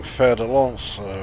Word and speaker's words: Fer-de-Lance: he's used to keep pronouncing fer-de-lance wrong yeah he's basically a French word he has to pronounce it as hideous as if he's being spoken in French I didn't know about